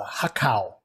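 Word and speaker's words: har gow: you know um again har gao uh you may hear like uh if they're speaking mandarin or cantonese it's a hakao uh yeah they don't they don't pronounce that g okay um so if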